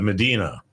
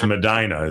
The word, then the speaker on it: Medina: Everyone calls it Medina, but it's it's Madina. It's a there are some Medinas out there, but this is the one that's called Madina.